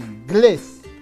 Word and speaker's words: inglés: es una palabra aguda claro porque la mayor fuerza de voz está en la última sílaba es decir en inglés por lo tanto inglés